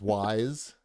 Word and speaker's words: Wise: oh wise you mean you're mispronouncing it it's wise i know it's hard to pronounce no why is this a potato chip right ease on down the road why my ohio accent calls it ease no it's wise x is how you say it monstrum knox good perfect